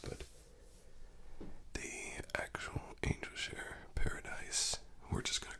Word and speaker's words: Paradis: I would say Angel Share Paradis, but it's not spelled like paradise, rather it's spelled kind of like Paradis, I guess.